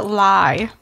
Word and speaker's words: Lye: So my pick is called The Honey Farm by Harriet Alida Lye. That's spelled L-Y-E. Mm. So everyone knows. It's like rye.